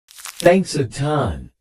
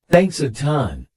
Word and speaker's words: thanks a ton: done it without you again notice the linking thanks a ton thanks a ton thanks a ton thanks a ton thanks a